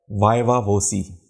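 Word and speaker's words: viva voce: मतलब है spoken examination इसका प्रोनंसिएशन जैसे कि मैंने बताया है वायवा वोसी इंटरव्यूज या जिसे कहते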